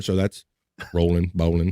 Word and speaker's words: Rowling: o w rolling rolling is it rolling like bowling what you got I thought it was rolling maybe I'm you might be I've heard I guess I've heard the Rowling pronunciation but now that you point it out to me I do see it's basically bowling with the R so that's rolling bowling